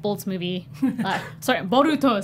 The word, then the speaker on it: Boruto: for n Nar Naruto B bolts movie sorry boruto say it right kid like two weeks ago